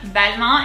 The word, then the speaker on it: Balmain: the longest time again they are from balmain belmont in french um we've actually gone